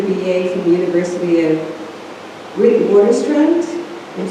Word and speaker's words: Witwatersrand: She received her BA from the University of Witwatersrand. I'm saying it wrong. Say it again? Witwatersrand in Johannesburg, South Africa.